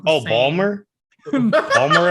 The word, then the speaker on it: Baltimore: Balmer accent? Balmer. Baltimore.